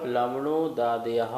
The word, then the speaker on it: लवणोदादयः: Jambudvipa Jambudvipa लवणोदादयः लवणोदादयः शुभनामानो शुभनामानो द्वीपसमुद्रः द्वीपसमुद्राः Jambudvipa Jambudvipa लवणोदादयः लवणोदादयः शुभनामानो शुभनामानो द्वीपसमुद्रः द्वीपसमुद्राः।